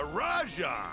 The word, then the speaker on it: Rajang: And dang, a Rajang. That's how you say it, not Rajang.